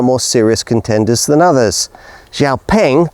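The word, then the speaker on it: Xiaopeng: Xiaoing, that's actually how you pronounce the name, is definitely of the more serious sort.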